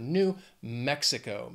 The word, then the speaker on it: New Mexico: Four syllables. Again, the stress is on that first syllable of the second word. New Mexico.